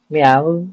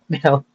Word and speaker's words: MEOVV: Today we're going to react to Meow, spelled with M-O-W-V.